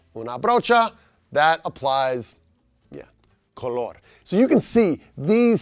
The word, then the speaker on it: color: Emphasis on that second syllable, color.